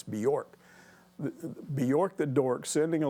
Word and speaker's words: Bjork: That's how it's hard to pronounce that guy's name. It's Bjork.